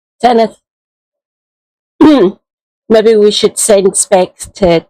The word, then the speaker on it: Senedd: His Senedd.